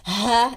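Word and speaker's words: ح: This is Ha, equivalent to H, but a deeper one. I mean, the source of this pronunciation is from down the throat. It's not like the ha, it's almost from the lungs. The H in English is from the lungs, but this ha, it's from the throat.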